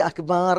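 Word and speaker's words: أكبر: എന്ന് ചോദ്യമാണ് ആ അള്ളാഹു അക്ബർ എന്ന് പറഞ്ഞാൽ അള്ളാഹു വലിയവനാണോ എന്ന് ചോദ്യാ അതേപോലെ ഈ അക്ബർ എന്നുള്ള പ്രയോഗം ചിലര അക്ബാർ എന്ന് പറയുന്നക്കാ അത് പറ്റൂല്ല കബർ അക്ബാർ ആണ് കബർ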